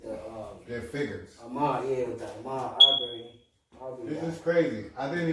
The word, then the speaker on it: Ahmaud Arbery: Ahmaud Arbery. Ahmaud Arbery. I don't want to say his name wrong, you know what I'm saying?